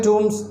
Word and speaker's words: tomb: that is the Royal Tombs of Golconda. Tomb. So it should be written like this. B is silent.